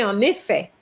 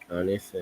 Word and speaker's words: en effet: Okay, so we're going to say en effet. en effet. En effet, and the N is going to be linked with the E.